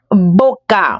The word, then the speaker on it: boca: The B challenge. Boca when the B is at the beginning versus when the B is in the middle or elsewhere. Hablar. Very suave. Baile when the B is